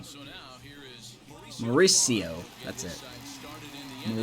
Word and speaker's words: Mauricio: So now here is Mauricio. That's it. started in the inning. Mauricio. It's like saying Maurice and then EO.